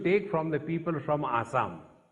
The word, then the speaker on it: Assam: Such a blessing, Shatayushu Bhava, you should take from the people from Assam. In Assamese language, Sa is pronounced as Ha. We call it Assam, but it is actually Ahom.